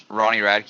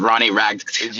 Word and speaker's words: Ronnie Radke: Yeah, is that how you pronounce it? Ronnie Radke, yeah. Good. I just never know. I thought it was Ronnie Rag Did or something.